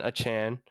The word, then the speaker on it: Achane: We just saw them give up 200 yards to Devon Achane, which is the correct pronunciation, by the way.